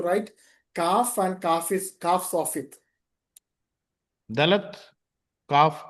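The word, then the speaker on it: כף: Here value is 20 and sound is का का इसका मूल्य बेस है उच्चारण का है।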